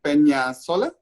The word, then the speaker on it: Peñalosa: Peñalosa.